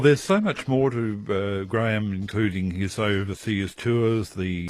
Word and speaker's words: Graeme: His name is actually spelled Graeme, and it's correctly pronounced as a single syllable, Graham.